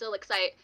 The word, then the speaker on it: ILLIXCITE: And then like we were like, "It's ILLIXCITE," and then they're like, "You didn't say anything?"